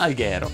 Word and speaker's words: Alghero: sono ad alghero ma alghero si pronuncia con l'aj aperta disclaimer si pronuncia così e comunque la mia